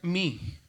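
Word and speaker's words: μ: Entonces, es la letra mi, que dijimos que se pronuncia como una M, como si dijéramos mamá, ¿verdad?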